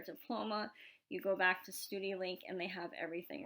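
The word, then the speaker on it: Studielink: hot links here you have to apply to studiolink is how they pronounce it and that's like the main registry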